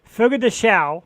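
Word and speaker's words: Fogo de Chão: Fogo de Chao.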